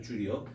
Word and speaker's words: 줄: 단위는 줄이란 단위를 쓰고요 줄이라고 읽어 준다고 줄리엣은 아니고요 줄이요 그다음에 얘는 뉴턴 단위를